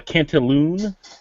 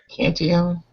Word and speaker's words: Cantillon: Number 4 is a Cantaloon Blabber Lambic. It's pronounced dick and mouth. Come on. Yeah, okay. Cantillon?